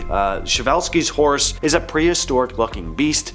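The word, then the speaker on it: Przewalski: So pronounce something like Shavevelski. Shavevelskis Horse is a prehistoric-looking beast that once roamed the steppes of Central Asia.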